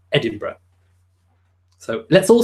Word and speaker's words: Edinburgh: It's Edinburgh, although it's spelt Edinburgh, which is probably, I don't know whether that's quite difficult for people with a Canadian or American accent to pronounce, but it's pronounced Edinburgh.